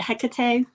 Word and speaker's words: Hecate: But there are also, I think, you know, like, is it Hecate? Did I pronounce that correctly? Yes. Hecate, I believe.